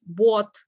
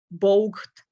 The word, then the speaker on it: bought: It's really hard to pronounce combinations of O, U, G, H, T, for example, in the word bought. They will say it like bogged, something like that.